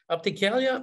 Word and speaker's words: Opticalia: announced a pilot with opticalia in spain did i pronounce that properly this is where you correct me andre no this is very good yes opticalia is a is a